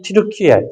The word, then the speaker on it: 튀르키예: 그래서 이 튀르키예, 지금 우리가 이제 터키를 안 하고 튀르키예 그 본토 발음을 따라가는데 이 튀르키예의 유럽 쪽 땅, 삼각형으로 톡 튀어나온 여기 이게 크라키아 지방이라고 합니다.